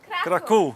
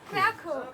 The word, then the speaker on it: Kraków: Varsovie, Cracovie, Lublin… Kraków ! [prononciation en polonais] Pas Krakau !